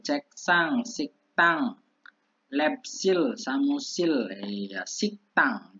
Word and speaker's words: 식당: Lepsil samusil ya, siktang bacanya siktang, pakai kayak sang diget gitu ya, siktang.